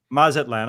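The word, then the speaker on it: Mazatlán: Mazatlan.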